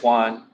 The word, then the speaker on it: Juan: Hello, my name is Juan. It rhymes with number one.